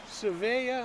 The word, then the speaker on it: Svea: If you're not sure what this is a Svea, I think that's how it's pronounced, S-V-E-A, made in Sweden.